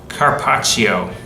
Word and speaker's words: carpaccio: used to pronounce this carpaccio the correct pronunciation got a bad joke double consonants are dragged out a little longer that's why italian sounds melodious but don't do that